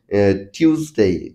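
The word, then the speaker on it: Tuesday: বেশিরভাগ ব্যক্তি ভুল করে এটার উচ্চারণ হবে টিউসডে টিউসডে একটু জোরে টান দিয়ে টিউসডে টিউসডে তারপরে যদিও স্যাটারডে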